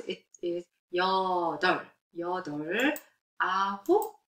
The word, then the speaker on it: 여덟: When you write, it's a real view, but when you pronounce, it is 여덟.